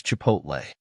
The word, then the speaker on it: chipotle: h i p o t l the correct pronunciation of this word is Chipotle Chipotle means a smoked dried jalapeno chili used